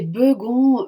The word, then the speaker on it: Begon: d'entendre oui euh alors mon nom c'est beugon mais tout le monde prononce B et je reconnais que